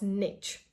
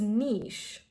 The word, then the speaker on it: niche: of students there, and many students pronounced this word as niche. This is not niche, this is niche.